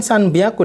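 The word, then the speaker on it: 三百: Be aku kenapa di sini bilangan sanubar usahakan sanbyaku dibacanya atau dilafalkan Nyana disini karena ketemu dengan B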